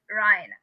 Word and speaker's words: Rhina: And I have the same spelling as Tiana, but my mom pronounces it Ryan.